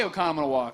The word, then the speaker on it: Oconomowoc: He's from Oconomowoc. Okay, yeah. You said it, and you said it right. How about that? Most people can't say Oconomowoc. They can't say, I say it right except for right?